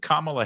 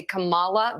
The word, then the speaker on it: Kamala: the hate campaign against kamla Harris has begun you will notice they purposefully pronounce her name wrong they say Kamala they do it all